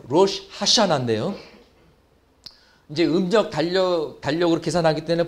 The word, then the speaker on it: 로시 하샤나: 로시 하샤나나 그랬는데요. 로시 하샤나인데요.